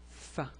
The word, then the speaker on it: ف: The pronunciation is Fa. It's like the English F.